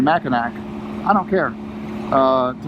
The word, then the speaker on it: Mackinac: going to keep saying Mackinac. I don't care. To Mackinac Island. That's how it's spelled, that's how it's pronounced.